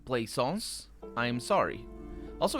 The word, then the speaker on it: Plaisance: i mispronounced your name Plaisance I am sorry also it's interesting that it's play songs instead of Plaisance but because it's not play a song sir cuz that would be